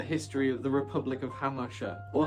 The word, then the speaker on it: Hamartia: Welcome everyone to the history of the Republic of Hamartia. or "Humasha" if you pronounce it the more rural way!